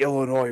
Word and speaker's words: Illinois: wrong she's probably like the S is silent say Illinois rights noise is it